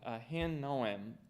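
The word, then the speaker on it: Ahinoam: him all right Mr Lloyd how do you pronounce it I handle a hen know him a-h-i-n-o-a-m there you go uh Jezreel I'm a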